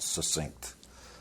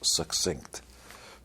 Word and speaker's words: succinct: succinct by the way that's the correct way to pronounce that word not succinct it's like success succinct uh in her own